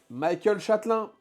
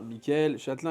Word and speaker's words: Michel Châtelin: pareil ou c'est pas très lourd Star Point les amis Michael Châelin on le prononce à l'américaine parce que il vend à l'international donc Michael Châelin Michel Châelin évidemment merci donc deux produits